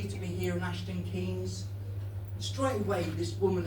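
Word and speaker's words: Keynes: at the back said I know it's spelled K E Y N S but here in the village we prefer to pronounce it Kes is that okay?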